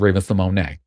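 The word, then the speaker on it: Raven-Symoné: very well aware that her name is actually pronounced Raven Simone. But I'm not going to do that. We've been calling her Raven Simone.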